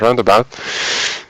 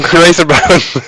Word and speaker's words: Raceabout: FZ5/RAC, also known as Roundabout. I always say it wrong. Raceabout.